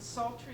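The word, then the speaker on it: psaltery: song in the ocean and sultry spelled with a p p-s-a-l-t-e-r-y and lots of parallel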